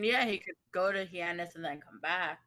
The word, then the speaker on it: Hyannis: There are some Heinous? cities. It's Hyannis.